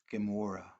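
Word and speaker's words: Gomorrah: it's the same gimatria as Amora which we pronounce Gamora.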